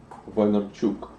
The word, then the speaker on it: Vaynerchuk: So I want to talk about Gary V and start with your connection to Gary Vaynerchuk. Vine in the very vinyl kind of way. In Russian, you would pronounce it Vaynerchuk.